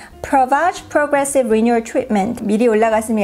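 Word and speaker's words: Prevage: 지금 며칠째 계속 비디오를 편집을 하고 있는 그 제품이 이 엘리자베스 아덴의 프리베이지, 한국에서는 프리베이지라고 하고요. 이제 미국식 발음으로는 엘리자베스 아덴 Provage Progressive Renewal Treatment.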